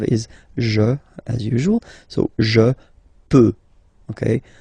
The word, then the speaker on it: peux: Okay, final X not pronounced here. Okay, so you get X but you don't pronounce it. So basically you get the sound peut, je peux. Okay, so I can, je peux. Okay, then tu peux. Same pronunciation and same spelling or writing. Okay, P-E-U-X. Okay, you don't pronounce the final X.